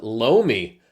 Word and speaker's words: loamy: Oh, see, I would have pronounced that loam. Loam. With like a silent E.